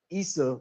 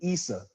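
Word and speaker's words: Isa: The first part of the name is basically pronounced the exact same way Issa would have been pronounced. Now, this Easos, you know what I'm saying? I'm not really sure about that that that whole ending, but I'm just I'm I'm just showing you the similitude and and I'm telling you with authority that that the the correct pronunciation of of Jesus's name would have been Issa.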